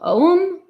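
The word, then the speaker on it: Ogham: pembrokeshire in South Wells the name ogum is pronounced o uh oh om om or om N I would not have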